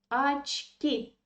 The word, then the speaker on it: очки: Мои очки, мои очки, my glasses. And again, pay attention to this O. It is an unstressed position, and it should be pronounced like A. Очки.